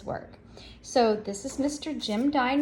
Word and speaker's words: Jim Dine: today his name is Jim dine now I love his name because it was always easy for me to remember Jim dine rhymes with Valentine so that's an easy